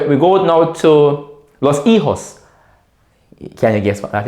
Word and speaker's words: hijo: So el hijo, repeat, el hijo. Remember the H is silent.